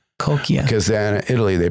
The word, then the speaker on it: Cocchia: In Italian, it's coia. Coia. Cuz then Italy, they pronounce it. Oh, in Italian it's C O C C H. I mean, America C O C H I, but it's pronounced coia.